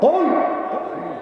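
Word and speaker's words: قُلْ: এখন আপনি যদি এটা পড়ার সময় মোটা করে কাফ উচ্চারণ করতে না পারেন, আপনি যদি চিকন করে বলেন যে কুল, কি কুল? কুল মানে খাও।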